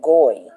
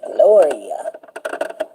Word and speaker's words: Gloria: I think she said something like Goy. "Hey, Goy." She said, "My name ain't Goy. My name is Gloria."